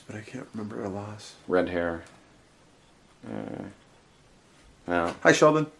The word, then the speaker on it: Lass: Lass. Is that how you pronounce it, Lass? He's gonna kill me if he ever hears this. L-A-S. L-A-S? Lass? Yeah, Lass.